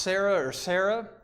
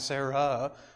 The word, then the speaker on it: Sarah: Well, it's still pronounced Sarah, or if you want to make it really technical, it's Sarai and Sarah, but it's still pronounced Sarah.